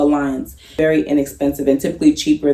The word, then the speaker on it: Allianz: In my experience, I've searched a few and I use Alliance, ALLIANZ. It's not spelled normally, it's spelled with a Z, so Alliance.